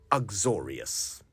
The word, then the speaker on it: uxorious: My friends eventually gave up on trying to invite me out when they realized I was incurably uxorious.